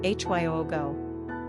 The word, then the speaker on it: Hugo: Pronunciation, Hyogo.